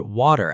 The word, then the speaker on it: water: Many learners struggle with the word water at the airport. In American English, the T sounds like a quick D. It's a flap T.